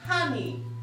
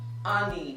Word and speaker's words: honey: Even in the word honey, honey, not honey or honey.